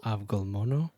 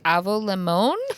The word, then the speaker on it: avgolemono: So I'll just spell it: AVGOLEMONO. Avgolmono. I was like, avo limon?